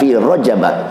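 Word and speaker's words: في رجب: Di situ bacanya bukan fi Rajabin, fi Rajab, isim ghairu munsharif.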